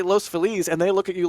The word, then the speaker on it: Los Feliz: called Los phiz and I call it Los phiz because you know Feliz Navidad that's the that's the you know everyone knows how to pronounce Feliz it's Spanish word La people uh I guess La people say Los FIS Los felis and then and then and then you say Los Feliz and they look at